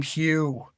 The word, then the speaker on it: Hugh: Like, the name Hugh, and the Irish for Hugh is AODH, but then Hugh, HUGH. We don't even realize there's a GH there, and we don't pronounce it.